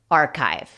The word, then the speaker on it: archive: Uno pensaría archive o archive, pero la pronunciación correcta es archive.